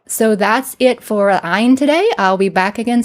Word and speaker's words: ayin: And like the aleph with the ayin, we also pronounce this in modern times, at least in the West, as an ah sound because people have a hard time pronouncing that ayin sound.